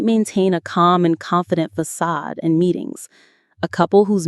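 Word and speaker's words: façade: This is a fantastic word borrowed from French. Facade. Let's say it with that soft ending. Facade. F A C A D E. Facade. The stress is on the second part. Sad.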